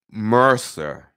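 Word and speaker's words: MRSA: should know about em RSA m r SI pronounce Mercer em ER - Sh Mercer Mercer or Mrs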